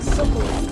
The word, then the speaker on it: Sokolov: Sokolov, that's how you say it.